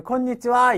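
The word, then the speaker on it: こんにちは: 이럴 때는 콘니 니지 오늘 어 안녕하세요 때도 콘니치와 이거 아닙니까 때 콘 니지를 그때는 콘 디즈가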